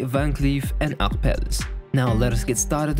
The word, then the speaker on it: Van Cleef & Arpels: out the history of vancleaf and upbelt that is how you pronounce it in french however in english you can say it van cleef and aarples but to stay faithful to the original let's say van cleef and acpelles now let us get